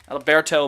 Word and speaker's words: Adalberto: Adalberto Mondesi. Adalberto. Can you guys Fantasy roll your R's? Can you guys roll your R's?